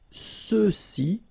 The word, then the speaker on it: ceux-ci: Same thing with the feminine form, celle-ci, celle-là, alright, and then for the masculine plural, ceux-ci, okay, remember final X is not pronounced, so you get the sound ce, ceux-ci, and then ceux-là.